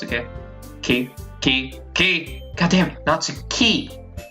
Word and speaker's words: Natsuki: uh I need to be careful about my pronunciations Natsuki okay are you okay are you ready maybe